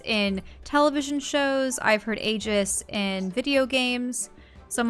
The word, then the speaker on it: Aegis: uh the thing is in Greek usually it's e for AE but I I always thought that I guess sounded really cool but then later on I started hearing it being pronounced as agus or Aegis I think Aegis for the most part I guess and I go okay Aegis that makes sense I've heard Aegis in